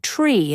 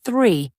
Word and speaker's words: three: For example, saying tree instead of three or dis instead of this. Exactly. The th sound in words like this or thank you is tricky, but here's a simple trick. Put your tongue between your teeth and gently blow out air. It's not D and it's nots. It's something in between.